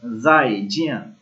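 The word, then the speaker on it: 再见: उसके बाद है एक वर्ड जाई जिया, जाई जिया, जाई जिया मीन गुड बाय। जिस तरह हम कहते हैं अल्लाह हाफिज, बाय बाय, तो चाइनीज में क्या कहते हैं? जाई जिया, जाई जिया, जाई जिया।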